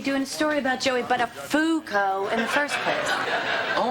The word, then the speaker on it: Buttafuoco: It's, Buttafuoco. Buttafuoco. What did I say? Well, Matthew, of all the possible mispronunciations of that name, you seem to have stumbled upon absolutely the worst one.